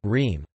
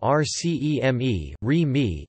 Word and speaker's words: RCEME: model of the Royal Electrical and Mechanical Engineers (RCEME).